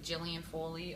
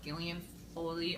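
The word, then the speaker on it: Gaelen Foley: I've been reading and I always say her name wrong and everybody says her name differently it's like Gillian Foley or Gillian Foley or gilan Foley everybody says it differently um I I just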